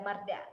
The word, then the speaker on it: Marda: Marda atau Marta sih bacanya? Marda ya? Iya, Marda.